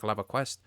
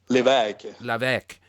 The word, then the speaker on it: Levesque: How do you say his last name? Patrick Lavaquest. Levesque.